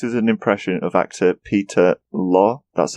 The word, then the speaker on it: Peter Lorre: It says here, his voice is an impression of actor Peter Lorre. That's it's pronounced.